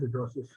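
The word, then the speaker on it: hidrosis: Some places it's given as hydrosis as well, but generally the pronunciation is hydrosis.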